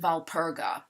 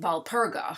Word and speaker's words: Walpurga: April 30th is known as the eve of the feast day of Saint Walpurga. The W is V pronounced in German. And so because it's the eve of Saint Walpurga, her feast day being